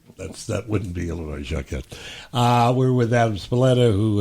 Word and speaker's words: Jacquet: Blues from Louisiana, and it's you had asked me how to pronounce his last name, Yeah. and it's Jacquette, but since I mispronounced it Jacquet the first time, Yeah, I would be went tempted.